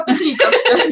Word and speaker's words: Петриковской: Я пока только по петриковской, да. Петриковской, извините, да, там ударение.